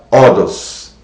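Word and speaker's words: ὁδός: várias línguas, no grego, a palavra caminho se pronuncia Odos.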